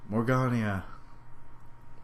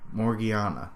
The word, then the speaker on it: Morgiana: Morgania. Yay. Or, am I even pronouncing that right?